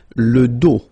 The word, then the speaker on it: dos: Le dos, final S not pronounced, okay? Le dos.